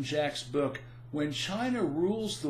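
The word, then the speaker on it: Jacques: It has been many years since I read it, but I recall Martin Jack's book, that's spelled Jacque, Martin Jack's book, When China Rules the World, to be an objective read.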